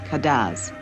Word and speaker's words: cadence: The music is spelled cadence and called cadaz.